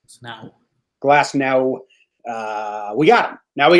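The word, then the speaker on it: Glasnow: So Glass no. It is pronounced like a no. No. Glass no.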